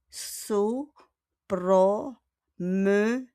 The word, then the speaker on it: se promener: As I said a while ago, our verb is se promener. Kindly repeat. Se promener. Okay, yung okay? Because there's no accent, okay? So we pronounce it as se promener.